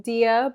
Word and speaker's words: Dea: this is my little sister hey guys I'm Dia but if you've known me from um being